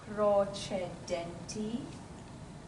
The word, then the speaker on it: procedenti: Procedenti. Procedenti. Remember the CE is che.